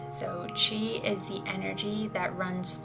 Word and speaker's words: Qi: This is spelled Qi, but it's spelled and pronounced, as Qi. So Qi is the energy that runs through us all,